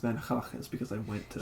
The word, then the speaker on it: Van Gogh: The only reason I know it's pronounced Van Gogh is because I went to.